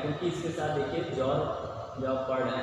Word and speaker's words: XOR: एक्स और gate, या इसका प्रोनाउंसिएशन क्या कहते हैं? जॉर गेट बोलते हैं।